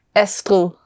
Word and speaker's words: Astrid: Astrid. Yeah. So is the D pronounced? Yeah, it's a soft D, but it's hardly hearable, but it is, you can hear it like Astrid.